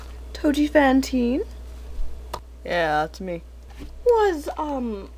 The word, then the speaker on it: Touji Fawnteen: manage the best she knows how all right toi Fantine yeah that's me was um my pronunciation of your name no you got it